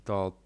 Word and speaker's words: je: Zwróć uwagę, że słowo „je”, oznaczające „ja”, brzmi tylko jak jego pierwsza litera, czyli „j”.